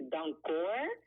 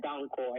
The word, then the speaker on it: Danko: It's actually like the Dutch way. If you want to pronounce it like the Dutch way, it's Dankoor. But you can Dankoor. also say like Dankoor. That's fine by me as well.